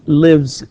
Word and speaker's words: lives: And he lives in Riyadh. Okay, he lives in Riyadh. لاحظ تكتب S ولكن تنطق Z.